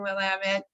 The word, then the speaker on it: Willamette: I'm so sorry for that mispronunciation at the beginning, Willamette.